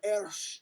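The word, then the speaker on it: ř: The interesting thing is that Czech is the only language that uses the ersh letter that makes the dr sound.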